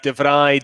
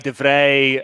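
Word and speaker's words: de Vrij: um but even then you have devry defray i mean it's it's a very very minimal difference in the way the dutch pronouncer between devry and devray i think you know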